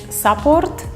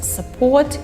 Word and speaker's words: support: next two words are pronounced incorrect just because of the stress just put on the wrong syllables what I mean is support and developer the way people who mispronounce it is support and developer so please